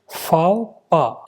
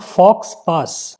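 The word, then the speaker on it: faux pas: इज not correctly pronounced इसका correct pronunciation जो है वो क्या है फाओ पा ऐसा समझ लीजिए फाओ पा इट इज नॉट फॉक्स पास अब फाओ प का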